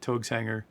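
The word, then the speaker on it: Taogs Hangar: T A O G uh uh Togs Enger without the apostrophe, of course, in the URL and then {slash} manuals.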